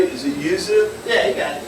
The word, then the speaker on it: Yuzu: we uh brw with the Yuzu am I pronouncing that right is it Yuzu yeah you got it Yuzu we brewed with Yuzu years ago a couple